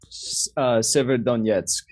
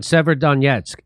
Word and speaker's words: Severodonetsk: Severodonetsk. Thank you. Around Severodonetsk, as Russian forces step up efforts to seize the whole of the Luhansk region.